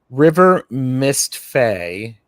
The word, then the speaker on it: River Mist Faye: River Mist Faye. I mispronounced their name on the last live. I said River Mistletoe.